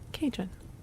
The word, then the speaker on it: Cajun: Am I not pronouncing Cajun right? Cajun. That's how you say that.